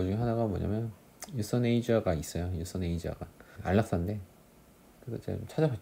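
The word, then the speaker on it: euthanasia: 아무튼 그래서 여기서 보시면은 이제 유서네이저가 있고 안락사하고, 그 다음에 여기 맨 밑에 있는 거 완곡어법 해가지고 유퍼미즘이 있죠. 강세가 유퍼미즘이에요. 앞에 있는 거 앞에. 유서네이저는 뒤에 있는 거고.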